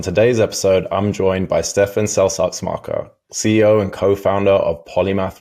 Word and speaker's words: Stefan Seltz-Axmacher: partner and on today's episode I'm joined by Stephan selar marker CEO and co-founder of polymath Robotics thanks for